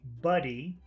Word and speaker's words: buddy: it to you is if you want to say buddy you should try to eat the vowel okay that means you should feel like pushing down okay you're not pushing out air it's like you're eating air you you you should feel some pressure going down buddy uh uh you you should feel like the air going down and if you want